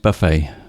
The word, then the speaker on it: buffet: you are yes pronounced buffet buffet b-u-f-e-t but it's pronounced buffet i imagine it's a french word we call it buffet